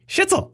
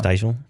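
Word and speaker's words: Shtisel: Steisel. Oh my gosh. So, Sorry. My wife corrected me. Sorry, guys. Oh. There's no I before the T.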